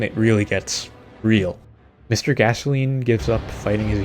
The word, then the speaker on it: Gascoigne: Father Gascoigne is how you say his name.